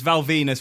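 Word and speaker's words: Val Venis: what you're saying is Val Venus rhymes with penis is the engine of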